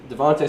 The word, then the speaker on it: DeVonta: It's Devonta. Devonta. It's not Devontae. It's Devonta.